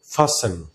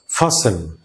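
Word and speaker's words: fasten: মোটামুটি বলি ফাস্টেন, ফাস্টেন, টি কিন্তু সাইলেন্ট। সো আমাদেরকে টির উচ্চারণ তো করাই যাবে না, আমরা না জানার কারণে এটাকে ভুল উচ্চারণ করি। আমরা বলবো ফাসেন, ফাসেন, তো টিটা আমরা সাইলেন্ট করে দেব, ফাসেন।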